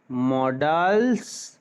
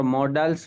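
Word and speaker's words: modals: আছে সেটা হচ্ছে মডালস, যেটা আমরা মডালস বলি সেটা মডালস নয়, সেটা হচ্ছে মডেলস, ঠিক। তারপরে যেটা আছে সেটা হচ্ছে semi মডালস, মডেলস, sorry, মডেলস, এ হয় বাট উচ্চারণটা ই এর মতো হয়, মডেলস।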